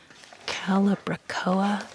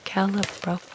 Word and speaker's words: Calibrachoa: I have a really hard time pronouncing the name of this flower. It's called Calibrachoa. Calibrachoa.